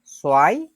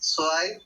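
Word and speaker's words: zwei: 2কে বলে সোয়াই, 3কে বলে দ্রাই, 4কে বলে ফিয়া, 5কে বলে ফুনফ। আমরা যারা যারা উচ্চারণ করতে চাই, যাদের আগে জিনিসগুলো শেখা আছে, তারা উচ্চারণগুলো বলার চেষ্টা করব।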